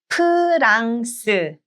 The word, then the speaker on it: 프랑스: 프랑스, 프랑스. 프랑스. 프랑스. 네, 프랑스. So instead of F, it's P.